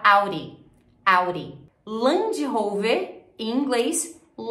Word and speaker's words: Audi: para quase um R ao invés de você falar Audi Você pode falar Auri Auri Land Rover em